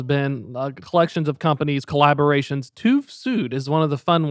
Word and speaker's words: TÜV Süd: Yes, and you are pronouncing correct. It is TÜV Süd.